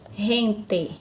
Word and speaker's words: gente: língua portuguesa eu tenho a palavra gente gente tá que gente na língua espanhola pronúncia também diferente eu vou ter Rent Rent certo se fosse a palavra